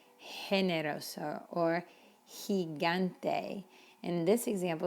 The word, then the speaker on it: generoso: or the letter e how do you think you pronounce this word if you were thinking generoso you're right so careful because we